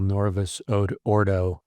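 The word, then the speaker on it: Novus Ordo: newer one is called Norvis Oordo. Nor we actually should pronounce the V like a W, but many many you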